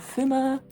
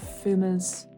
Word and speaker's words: Fuma: And then for limited B, I have Fuma. I know you're not meant to like pronounce the F like too much, but it just like doesn't come naturally to me, so I'm still doing it, unfortunately.